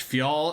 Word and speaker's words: Fjall: Fol is spelled FJL.